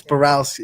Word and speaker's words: Borowski: You pronounced his name wrong, so that's only half. It's Borowski. Is it Borowski? Borowski, yeah.